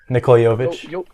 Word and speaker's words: Nikola Jovic: I'm not really sure how to pronounce his name. It's Nikola. What is it, Alan? Nikola Jovic. Yeah, Jovic.